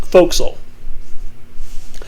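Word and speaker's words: forecastle: four in the foxhole spelled for castle pronounced foxel a few days later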